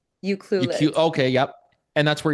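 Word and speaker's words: Ucluelet: Uclul.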